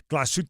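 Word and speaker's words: Glashütte: checking out the uh glut original watchmaking company display uh which I I I feel like I have to say it like that because it's so elegant uh but it's spelled like glass shot uh it is uh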